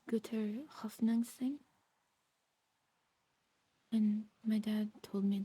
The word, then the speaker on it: guter Hoffnung sein: I think you say it like Guter hoffnung sein.